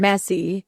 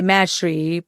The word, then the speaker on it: Maesri: Messy. Messy. Yeah. How do you spell it? It's Massy? Maesri. Okay. Yeah. So a lot of time people say Mashri, but it actually comes from just messy in Thai.